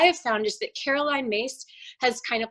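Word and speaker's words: Myss: um i always reference a woman named caroline mace her last name is spelled m-y-s-s and caroline mace um has done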